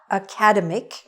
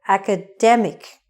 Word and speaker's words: academic: word it is not academic it is haka demmick the stress is on the middle academic this is an academic